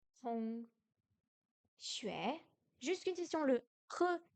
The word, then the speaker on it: 学: Xue, pardon, xue. Xue, xue, deuxième ton, on monte, c'est le plus difficile. Xue, le X se prononce comme un S français, mais avec le dos de la langue.